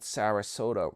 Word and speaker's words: Sarasota: We'll start let's start with uh old Sarasota rhymes with Yoda.